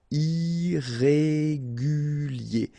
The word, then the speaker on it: irrégulier: Okay, remember, I-E-R at the end of your word here, it will be ye, okay? Irrégulier.